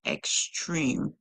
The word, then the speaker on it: extreme: our word here is extreme extreme remember this e is silent and so it gives power to the other e so the last song that we hear in the word would be M M Extreme l y